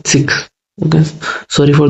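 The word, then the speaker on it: Sikh: उनको बच्चों सिख बोला जाता है, सिख नहीं सिख।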